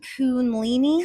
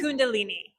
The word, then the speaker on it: Kundalini: So, what is how do you pronounce it? Kundalini. Kundalini.